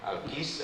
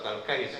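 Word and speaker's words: الكيّس: Kalau nggak ada barisnya kadang-kadang suka bacanya saling al-kis apa al-kais. Kalau kis itu kantong plastik, kresek itu kis namanya kalau bahasa Amnya. Al-kais. Jadi al-kaisu man dana nafsahu wa amila lima ba'dal maut.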